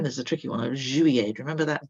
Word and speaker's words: juillet: Then there's a tricky one of juillet. Remember that double L in the middle, sounding a bit like a Y? Juillet, juillet, juillet. 3.